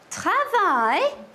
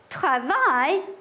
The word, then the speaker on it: travaillent: Les instits travaillent dans les salles de classe. What do you notice? It's pronounced the same. It is. Excellent. The NT that I added to the end of travail is silent.